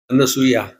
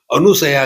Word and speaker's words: अनसूया: की माता थी ना अनसूया अब उसका भी उच्चारण क लोग अनुसया कहते वो अनुसया नहीं अनसूया है तो जिनम किसी प्रकार